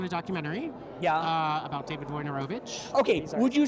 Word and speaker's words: Wojnarowicz: About David Wojnarowicz. Okay, would you say his name for me? Wojnarowicz.